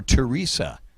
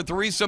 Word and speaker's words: Theresa: or Theresa May or Teresa the age is silent sometimes people say Theresa some people say Teresa John Major Gordon Brown Tony Blair or Theresa May 1997 to 2007